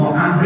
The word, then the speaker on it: Amr: Wa Mu'ad ibnu Jabalin ibnu Amr ibnu Aus. Kalau ada tulisan Umar, kemudian depannya ada wawu, itu bacanya Amr. Kalau wawunya dibuang, Omar.